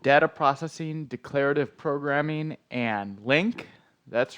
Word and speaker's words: LINQ: processing declarative programming and Link that's right these four letters here l-i-n-q are pronounced link and as with most